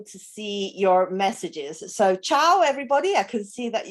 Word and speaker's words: ciao: in italian this is ciao and it sounds like chain okay so cha and